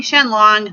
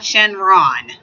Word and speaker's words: Shenlong: have a child and I'm saying Shenlong not Shenron Jen long is how it's supposed to be pronounced I'm a big huge